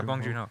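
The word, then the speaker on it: Bong Joon-ho: thing with uh I don't know how to pronounce his name the guy who directed parasite bong B junho yeah yeah bong junho yeah uh what he says once you get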